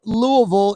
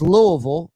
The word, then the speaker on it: Louisville: Now, Louisville is Louisville, and like New Orleans is New Orleans. You don't say New Orleans. You don't say Louisville. No. It's not Louisville.